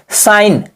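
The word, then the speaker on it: sign: का उच्चारण नहीं होगा उसे जी को हम नहीं पढ़ेंगे जी क्या होगा साइलेंट रहेगा दोस्तों जैसे साइन सी एन सिन मेंस क्या होता है दोस्तों अक्षर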